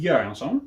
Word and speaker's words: Göransson: And recently Ludwig Göransson, yes, that's how we pronounce it, for his work on The Mandalorian, which was a very fresh take on the Star Wars material.